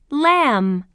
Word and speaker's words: lamb: Lamb that's right um lamb can you hear the sound in Lamb no that's right the B is silent lamb this is a